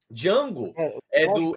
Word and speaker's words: Django: cara, que faz o Django, o principal, o Jamie Foxx. Isso, Jamie Foxx, que o Jamie Foxx chega, né, pro outro e fala, não, o D em silêncio, D é mudo.